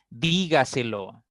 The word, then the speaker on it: dígaselo: esta palabra dígaselo ya ahí vemos que esta palabra tiene cuatro sílabas la mayor fuerza aparece en la cuarta sílaba dígaselo dígaselo por lo tanto es una palabra sobreesdrújula explíquemelo no otra palabra